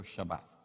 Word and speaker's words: Shabbat: Esa palabra reposo era el Shabbat, o pronunciado en hebreo Shabbat.